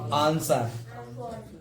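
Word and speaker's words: answer: डब्लू से पहले एस है तो डब्लू को नहीं पढ़ेंगे। तो आंसर है ना, डब्लू को पहले एस है तो डब्लू को पहले सॉल्ट, ठीक है।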